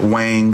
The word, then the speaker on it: Wong: But remember this name, Christina Wong. Some people might pronounce it Wang.